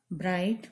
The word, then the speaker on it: bright: Bright, brighter. Dark, darker. Light, lighter. Big, bigger. Fast, faster. See here. Shorter. Here H silent. Next, bright. G silent. Isn't it? You cannot pronounce G.